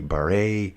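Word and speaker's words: Barré: Is it Barry? Beret. It's Beret. It's going to be Beret as in a raspberry beret.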